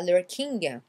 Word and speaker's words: lurking: Lurking, vous oubliez le G, c'est pas lurking. It's lurking, lurking. Lur, donc votre L, la langue vient toujours vers le haut.